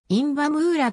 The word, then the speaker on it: インヴァ・ムラ: 多いことからか日本ではいんばムーやとイタリア風な読み方もされるが特に音引きは必要ない 1987 年からヨーロッパ